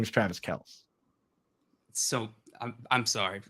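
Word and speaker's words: Kelce: guys see what Travis Kelsey came out and he was like just so you guys know our name is pronounced Kels and Kelsey is a nickname that everyone calls all of us like so I have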